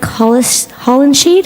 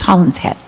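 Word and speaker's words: Hollingshead: I think it's Holland's Head. Please correct me if I mispronounced it. That's okay, thanks, yeah. Is it an SH or an S? Is it It's Holland's Head. Hollings Head? Thank you. Holland's Head, yes. I'm a snowbird from Canada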